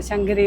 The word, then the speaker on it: سنگاگیری: یہ بہت آسان ہے اس جگہ کو سنگاگیری کہتے ہیں - یہ اس طرف ہے، نہیں؟ اصل میں ہم اس کا تلفظ بالکل مختلف انداز میں کرتے ہیں، شنگری یہ تمام ٹرک وہاں